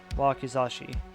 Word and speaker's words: wakizashi: Well, he's going to have a katana and a wakazashi, I think, is what it's called. block. Let's see. I want to make sure I pronounce this right. Wakizashi.